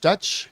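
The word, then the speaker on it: Deutch: how do you say her last name deutsch dutch yeah zoe deutsch deutsch like she's howard deutsche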